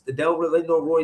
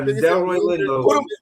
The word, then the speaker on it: Delroy Lindo: They was Lindo Roy.